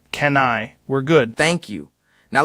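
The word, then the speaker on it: Kanye: When they say Kenya West, it sounds like Can't-Ya West.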